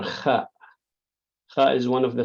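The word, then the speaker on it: خ: Just imagine yourself snoring, and you will say kha, kha.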